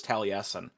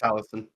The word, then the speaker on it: Taliesin: Seeing how it's spelled, I always thought it was Taliesin. Oh, yeah, fair. Nope, it's Taliesin.